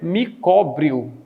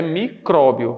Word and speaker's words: micróbio: Então, se você tem um microbio, pequena vida, por isso que a palavra não é micóbrio, é micróbio.